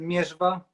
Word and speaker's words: Mierzwa: Yeah, we pronounce it Mierzwa.